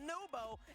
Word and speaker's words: NWPO: Oh, also, if anybody's watching it right now, NWPO is pronounced Nubo, and Rise when he's on, there's not a single player in the game who's as talented and mechanically.